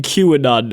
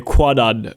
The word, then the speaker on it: Kwannon: You're also doing a very good job not saying QAnon every time you say Quanon, just to let you know.